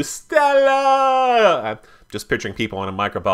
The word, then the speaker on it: stella: And yes, that's actually the way you pronounce it. You have to do stella.